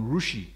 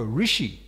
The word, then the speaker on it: Rishi: uh he he mentioned a modern rushi propa says what is that rushi rushi oh said oh Rishi there can be slightly differ difference of pronunciation and then Pro goes